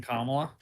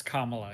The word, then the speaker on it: Kamala: more like um than kamla yeah you know I feel dirty that I just pronounced it correctly is it Kamala it's Kamala yeah okay I feel incredibly